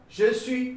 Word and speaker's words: je suis: Je suis. You should not pronounce this S. Don't say je suis. It will be I Switzerland, something like.